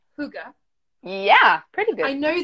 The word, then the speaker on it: hygge: And I never know how to pronounce it. And I know it's hygge, Yeah, pretty I good. know this, and then when I see it, I just want to say higa because I'm English, or British, and I speak English.